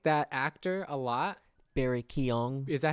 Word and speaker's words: Barry Keoghan: Barry Keoghan.